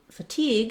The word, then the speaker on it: fatigue: have the word fatigue fatigue has second syllable stress so while crazy is long and short fatigue is short and long so teague is the stress syllable again we have our